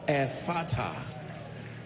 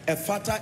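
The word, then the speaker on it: Ephphatha: Ephata. Ephata is spelled E-P-H-P-H-A-T-H-A.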